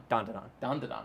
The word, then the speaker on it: Dandadan: Dandadan would be the Japanese pronunciation.